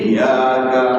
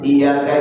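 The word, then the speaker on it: إِيَّاكَ: তাসদীদের উচ্চারণ হয় না ডাবল অক্ষরটার উচ্চারণ ইয়াকা ইয়াকা বললে একটা ইয়া উচ্চারণ হবে এই ইয়া মনে থাকবে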